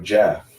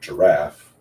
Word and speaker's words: giraffe: another blah blah blah so jaff is not an uncommon mispronunciation of giraffe because oh if you